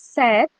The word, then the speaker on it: sept: 7 is Seth and P is silent. Okay. We don't pronounce okay, the P.